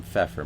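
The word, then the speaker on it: Pfeffer: Uh I just call him Feffer. Mr. Feffer. Um begins with a P. The P is silent, but Mr. Feffer.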